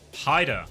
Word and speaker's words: Hyder: I never know how to say the 7 when it's in people's names. What letter is 7? R? I want to say R. You just say 7 Ida. 7 Ida. H? Hyder. Oh.